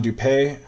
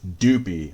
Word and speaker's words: Dupee: uh this is John dupe or not dupe I'm sorry I'm I'm pronouncing it the way Chris pronounced it it's dupi his name is actually pronounced dupy like doo P like dooo and peee like he's just such